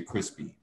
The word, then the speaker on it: crispy: crispy versus chris p ordinarily with the initial the main stress is going to come at the end chris p and then it causes this p sound to aspirate aspirate more breath coming out when you say chris p in the final syllable then we say crispy that's right and so